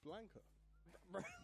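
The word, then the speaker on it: Blanka: Yeah, it's Blanca.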